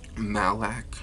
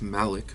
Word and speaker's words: Malak: rev tasted it as malak did malac it's malik but you know we